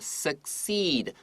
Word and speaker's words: succeed: 在这边的话，老师特别把 succeed 放慢，因为这个地方两个 c 的发音不同，前面的 c 是发发 k 的声音，在上面的话，你帮我写个 k，然后后面那个